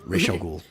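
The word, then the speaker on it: Ra's al Ghul: did appreciate um although technically they didn't pronounce his name right because like yeah i'm trying to remember who roz yeah yeah which is i personally prefer that pronunciation but it's like no it's rage head of the demon racial ghoul um so um reese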